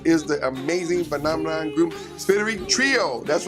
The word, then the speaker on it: SpiriTrio: Today, my very, very special guest is the amazing phenomenon group, SpiriTrio.